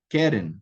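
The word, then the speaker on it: קֶרֶן: Então, ozen é segolado, Keren é segolado, regel é segolado, ou seja, a primeira sílaba aqui é a tônica.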